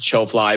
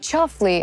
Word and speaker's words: Chofly: just shortened it to cho fly but uh yeah that's the story behind show fly and chosen so it's your fly it's not chuffly i was just pronouncing it russian and ukrainian accents yeah that's right why